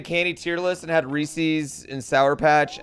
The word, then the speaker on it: Reese's: It's pronounced Reese's.